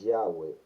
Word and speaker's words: Yahweh: O sea que entre las pronunciaciones que se han aceptado, la más correcta es Yahweh Elohim.